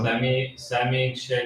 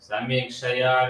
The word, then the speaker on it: Samikshaya: Samiksha No, Vishramaya wait, you're leaving out a syllable. Samikshaya Vishramaya Vacha Samikshaya Vishwamayan